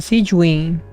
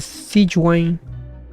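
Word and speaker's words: Sigewinne: Ah, se pronuncia Sijuin en vez de Sijuan.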